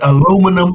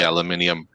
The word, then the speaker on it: aluminium: u g yeah and it's aluminum not aluminium by the way Alum it is bloody aluminium Plum extra you know it's